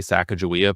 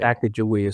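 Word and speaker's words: Sacagawea: So is it Saga? It's actually pronounced a lot of different ways. I say Saka Jia, but but there are lots of valid ways to say Sak Jia.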